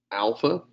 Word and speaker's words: alpha: Alpha would be the more correct pronunciation. You'll notice I don't always do that. The way you pronounce this is the A in father. So kind of a rounded ah sound.